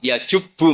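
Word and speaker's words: يَجُبُّ: Terus Nabi ngendikan al-Islamu ya jubbu ma qablah. Itu bacanya bukan ya jibu tapi apa? Ya jubbu ayaktau.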